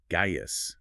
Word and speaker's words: Gaius: He famously complained that the name Gaius is spelled with a C, even though it's pronounced with a G.